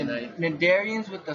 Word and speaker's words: Cnidarian: 33.2 Cnidarian. The C is silent. Alright. You know, like you don't say knife, you say knife. Cnidarians with the silent C.